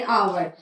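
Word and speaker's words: hour: आई हैड to wait for एन आवर. आवर जैसा कि हमने देखा एच लेटर से स्टार्ट हो रहा है, लेकिन एच उसमें साइलेंट है, तो हम यूज करेंगे आर्टिकल एन.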